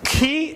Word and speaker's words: chi: know how, what is the Italian way of pronouncing it? No, it's Greek. It is Chi. letter, right? Chi and phi.